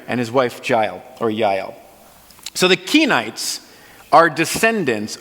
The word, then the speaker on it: Jael: you pronounce her name there's no js in hebrew they're all wise so i'm just going to say yael but you say jail doesn't matter say whatever you want but anyways hebrew